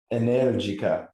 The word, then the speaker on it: Energica: Energica. They're Italian. That's how you say it.